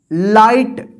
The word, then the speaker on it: light: GH है ना, तो इस GH का उच्चारण नहीं होता है। यहां पे देखिए आई का आई उच्चारण होता है और GH का जो है ना उच्चारण नहीं होगा, ये साइलेंट रहेगा।